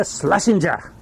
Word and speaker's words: Shlesinger: we are rolling with iliza shlesinger that's the pronunciation it's less finger slashing